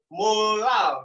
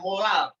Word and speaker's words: molal: M kecil, kalau tadi M besar itu molar, M kecil ini molal bacanya ya, molal.